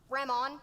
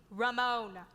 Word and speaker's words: Ramon: slap you silly so your name is ramon what kind of a name is that one you can't pronounce it's ramone and you're the cook